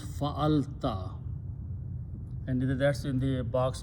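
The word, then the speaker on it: فَعَلْتَ: When you have these three letters, fa and then lam, fa'ala, if you put a ta at the end and pronounce fa'alta, and that's in the box number 3, fa'alta.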